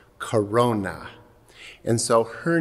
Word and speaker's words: corona: And that's how this saint got her name, because in Latin, crown means or is pronounced corona.